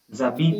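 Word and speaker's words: j'habite: Zabit yeah. actually. Zabit. Yabit.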